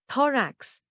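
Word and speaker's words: thorax: थोरेक्स दो racks दो racks T एच ओ आर ए एक्स थरेक्स दो हिस्से अ दो और रैक्ष जोर पहले हिस्से पर दो रैक्ष हिस्से करके लिखो स्पेलिंग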